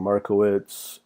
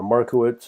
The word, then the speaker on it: Markowitz: can get expected return these different techniques using Markowitz and minimum k-member but anyways I want to